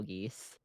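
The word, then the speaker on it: geas: they're actually a problem it's spelled g-e-a-s oh oh yeah don't mind his negative one intelligence it's one of those fun words that has like 16 pronunciations and we can take our pick yeah no he's thinking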